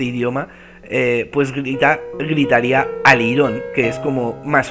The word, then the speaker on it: alirón: bueno, pues eh eh la palabra degeneró en alirón todo junto, ¿vale? Y con acento en la o ahí.